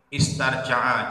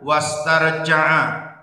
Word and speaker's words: wastarja'a: Khafa maka wedi sapa rajul, wastarja'a, niki istarja'a, jadi bacanya wastarja'a, lan nejo bali sapa rajul an dunubihi saking pira-pira dosane rajul.